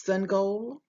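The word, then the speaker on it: Sangoel: What he chose to do was to draw a picture of symbols, the sun and a goal, to help them to know the correct way of pronouncing his name.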